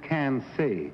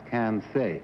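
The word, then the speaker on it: Quincy: q u i n c y yes it's pronounced can C that's what I that's right yes that's right she well that's odd but uh it's spell Qi NC y but pronounce can say well what color if you drink too much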